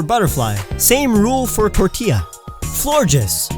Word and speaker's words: Florges: Florges, like gorgeous, not Florgus.